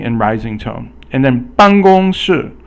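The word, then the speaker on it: 办公室: And then 办公室. 办公室 is basically it's basically fourth tone, and then you also have first tone, and then fourth tone again. So 办 is fourth tone, 公 is 办 is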